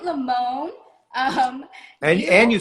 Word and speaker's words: Lamon: with you yeah let's do it all right lamone um and you said it and you pronounced my name right thank you professional here